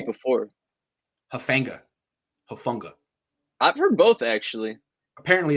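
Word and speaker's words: Hufanga: How are you pronouncing it before? Hufunga. I've heard both, actually. Apparently, it's Hufunga.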